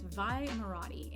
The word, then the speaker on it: Vi Moradi: I think it's spelled Maradi. It's Vi Moradi, and she is part of the Resistance.